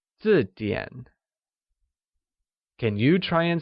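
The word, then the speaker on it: 字典: 那不是本字典, where dictionary is 字典. 字典 is pronounced with a falling tone on I and a falling rising tone on A, like 字典.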